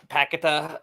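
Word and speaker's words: Paquetá: um positives I thought paquetta or how are they kept pronouncing it it's pakita uh I'm good spaghetti to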